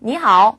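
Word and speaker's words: 你好: 중요한 규칙이 무슨 말이냐면 3성 + 3성은 2성 + 3성이 된다는 거예요 예를 들면 우리가 배웠던 니 How 있죠 짧게 말할 때 니 How 이렇게 얘기를 했었는데요이 니가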